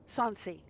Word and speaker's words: Sansi: Raven, how's your last name pronounced? Sansi. Just like just like it's just like it's spelled.